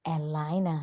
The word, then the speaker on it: Elina: It is Elina, like a lioness.